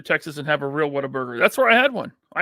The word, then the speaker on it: Whataburger: Pronounce Whataburger, Waterburger.